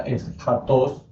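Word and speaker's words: ἔσχατος: Entonces, la primera es gatos o se pronuncia es jatos.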